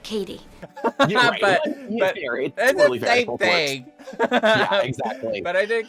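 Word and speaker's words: Cady: Katie I always say caddy because of the movie name is caddy caddy Heron where are you caddy that's me it's pronounced like Katie thing exactly but I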